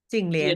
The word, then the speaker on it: Jing Lian: Well, boy, I am so excited to be talking to Jin Ling. Is that the right way to say your name? Yeah, Jing Lian.